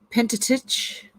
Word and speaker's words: Pentateuch: or penty oh how do you say that pentateuch first five books of the old testament okay